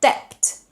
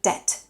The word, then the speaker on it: debt: Or the word debt, where the B is silent. It's not debt, but debt.